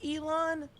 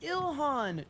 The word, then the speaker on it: Ilhan: Did she say Elon? It's Ilhan. Trump calls her Elon, too.